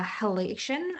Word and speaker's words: halation: So, and I think I pronounced that correctly. I always mess that up. So it's Halation, if you're wanting to learn more. So we always want to